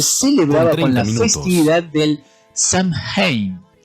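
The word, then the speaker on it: Samhain: Ese momento de transición se celebraba con la festividad del Samad pronunciado s que se escribe s a m h a i n.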